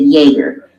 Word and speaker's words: Jaeger: friend I mean today how do you say jaeyi ger and he said Jaeger and he does speak German and he said it's German for hunter and so acres are